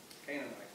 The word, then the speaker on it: Canaanites: Amorites and the Canaan, it's a little difficult to pronounce it here, it's not like it looks, it's Canaanites, and the Perizzites and